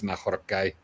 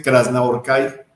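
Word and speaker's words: Krasznahorkai: Por cierto, ellos no y ellos no pronuncian la ho como J, o sea, dicen Krasnahorcai.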